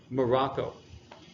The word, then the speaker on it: Morocco: fourth one is when the emphasis is in the middle so then it's Malaysia Morocco all right so these